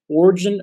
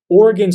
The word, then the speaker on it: Origen: In his letter to Africanus, Origen, or actually Origen is the better pronunciation of his name, Origen of Alexandria defends his use of Daniel 13, the deuterocanonical portion about Susanna.